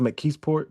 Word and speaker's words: McKeesport: I believe it's pronounced McKeesport, PA.